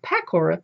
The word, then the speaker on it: pakora: Oh, look how they spell it. P-E-K-O-W-R-A-H. But in India, it's pakora, P-A-K-O-R-A.